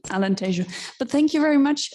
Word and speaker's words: Alentejo: our portuguese speaking colleagues i know i mispronounced alentejo because being here in spain i said tejono so sorry for that alan tashoe but thank you very